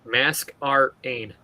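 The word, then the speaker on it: Masquerain: Just remember it. Mask Rain.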